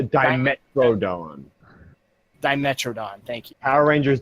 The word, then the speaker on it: Dimetrodon: you go to the dinosaur that you're directed to, and it's this old-looking Demetron. How do you say that? Oh, I know what you're talking about. It's a Dimetrodon.